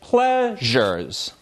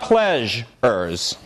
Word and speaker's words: pleasures: And this word, similarly, it's pleasures. It's not pleasures.